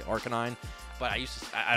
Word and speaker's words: Arcanine: want to say it i used to say art canine but then everybody said i was saying it wrong so now i say arcanine but i used to